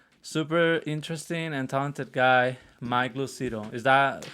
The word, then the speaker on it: Lucido: have another guest super interesting and talented guy mike lucido is that how you pronounce it yeah i'm like there you go